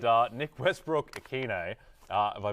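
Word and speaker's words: Westbrook-Ikhine: And Nick Westbrook-Akine. Have I butchered that?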